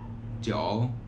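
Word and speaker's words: 九: se pronuncia como para el 9 se pronuncia como joe joe y hasta aquí terminamos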